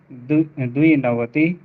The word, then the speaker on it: द्विनवतिः: एकनवति एकनवति द्विनवति एक नवति एकनवति द्विनवति द्विनवति द्विनवतिः द्विनवति द्वि नहीं द्विनवतिः द्विनवति द्वि पे रुकना नहीं द्विनवतिः द्विनवति त्रिनवतिः त्रिनवति त्रि